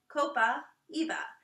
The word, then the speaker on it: copaiba: little behind your ears copaiba if you're not sure how to say it break it into two parts Copa Eva this is an amazing